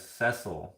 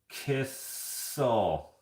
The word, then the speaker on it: Cecil: In the UK, we pronounce Cecil as Cecil, not the Cecil, not Kissel.